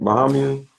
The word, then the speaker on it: Bahamians: Bahamians.